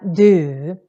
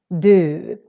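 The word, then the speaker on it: du: we say feel and then we have do do it's how we say you and it also happens not always but sometimes when we have no consonant at all coming after the the u then it also becomes long not always but still it happens quite often so that's why we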